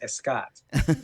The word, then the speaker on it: Scott: like native Spanish speakers, they put an E before my name of Scott, and I become Escott. So that's where you're kind of switching off on our name pronunciations there.